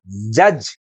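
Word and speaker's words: judge: ही बताइए नेक्स्ट है इसे बोलेंगे क्या जज ओके आप यहां जूस क्यों नहीं बोल रहे हैं क्योंकि यहां दी साइलेंट है ऐसे ही यह क्या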